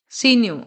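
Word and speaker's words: signor: Next है next है सीनिय। यहां पे जी जो है ये साइलेंट रहता है।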